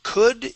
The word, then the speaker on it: could: So remember, on this word, that O-U-L does not make an U sound. It's an U. Okay, and the L is silent. The L does not make a sound.